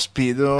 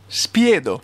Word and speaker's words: Spiedo: It's Spiedo, not Speedo. Okay, so it's Spiedo. Spiedo.